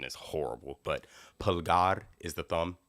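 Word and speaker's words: pulgar: Spanish speaking you can correct me if my pronunciation is horrible but pgar is the thumb p u l g a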